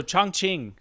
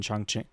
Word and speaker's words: Chongqing: So, Chongqing.